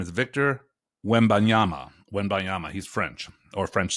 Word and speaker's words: Victor Wembanyama: This guy, I'm sure I'll mispronounce his name, but his name is Victor Wembanyama.